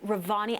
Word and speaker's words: Revani: you're going to show us how to make Revani and cardamom milk. Did I pronounce that correctly?